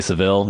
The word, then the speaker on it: Savile: I think you're supposed to say Savile, even though there's only one L.